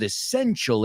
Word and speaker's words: essential: Because I know esencial, I know it's one of those words you'll recognize, but we pronounce it essential. Es como una T, es como una CH.